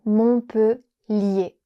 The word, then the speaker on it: Montpellier: Les lettres ER à la fin du mot font le son /e/. Donc on dit Montpellier.